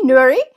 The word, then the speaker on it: Noori: you say your last name please Dy cini Nuri and she is an Iraqi born Swedish um